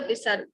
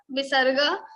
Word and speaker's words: visarga: What is the visarga? So the pronunciation of visarga is like ha, ha.